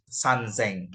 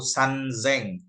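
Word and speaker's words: 三千: nolnya ya Eh sor nolnya t ini dibacanya seng Tapi dia bisa jadi Zeng Jika Bertemu angka t begitu kan sanzeng begitu tapi sisanya semuanya seng gitu contoh 1000 iseng 2000 niseng 3000 sanzeng 4.000 yongseng dan seterusnya sampai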